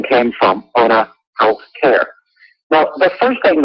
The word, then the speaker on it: O'na: And it's pronounced Ona. Yeah, Ona.